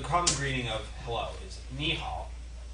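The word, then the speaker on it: 你好: Both of those are third tone, which is ni, falling, rising. Ni hao. But when you're actually pronouncing it, you don't say ni hao. You say ni hao. So the second one gets changed, and that's essentially a sound change roll.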